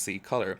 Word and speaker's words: C-Color: C-Color Cosmetics, pronounced C-Color, was created in Los Angeles, California in 2017 by a team of creatives and professional makeup artists.